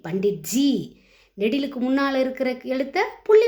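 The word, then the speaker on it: पंडित जी: ப இன் டி இத் G. Pandit G.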